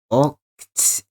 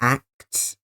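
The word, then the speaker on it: Acht: Marina is here, Pearl is here, and I believe their name is pronounced Oct and not Act.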